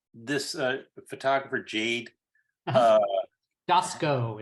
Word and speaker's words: Dowski: uh photographer Jade uh dasco is how she pronounces dasco dasco uh right she